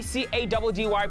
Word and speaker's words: Caddy: Running the streets of Gauteng, it's your boy C-A-D-D-Y, pronounced Caddy.